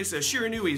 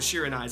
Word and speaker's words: Shiranui: know Breakers of Shadow a shiranai shiranui sorry shiris I keep I always pronounce it shiranai I don't know why but shiranui uh are